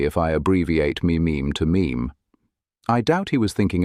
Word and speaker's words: meme: Mim comes from a suitable Greek root, but I want a mono syllable that sounds a bit like gene. I hope my classicist friends will forgive me if I abbreviate meme to meme.